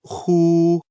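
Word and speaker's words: 呵: heart Meridian the pronunciation of who like The Who and the English word Hoover the pronunciation is assisted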